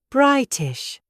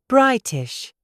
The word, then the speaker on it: British: British. There is a T in the middle. Pronounce it. There is a tiny pause between the I and the T. British.